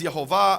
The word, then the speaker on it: Yehovah: In fact, it says there in the Hebrew, Yud He Vav He, which I pronounce as Yehovah, others pronounce as Yahweh or Yahweh.